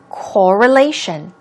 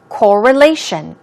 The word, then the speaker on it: correlation: let's practice the pronunciation as you see the stress goes on the third syllable it's correlation correlation one more time correlation means connection link relationship